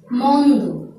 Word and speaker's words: মন্দ: শব্দটি বিশ্লেষণ করলে গন্ধ, তেমন করে মন্দ, মন্দ, এই ক্ষেত্রে কিন্তু লক্ষণীয় উচ্চারণটি মন্দ হয়নি, মন্দ।